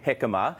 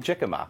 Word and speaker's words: jicama: I'm not one to actually consume jicama, and I was calling it jicama. Spelled with a J.